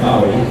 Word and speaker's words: Bowie: David Bowie, or as we say, David Bowie, which is how you really pronounce it.